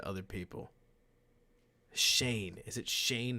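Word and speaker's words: Schoen: whole bunch of other people shane is it shane not sheen it's s-c-h-o-e-n joe shane adam sheen comes up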